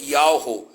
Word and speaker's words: Yahweh: tirado do tetagrama Yud-Heh-Vav-Heh, que a pronúncia seria Yahweh.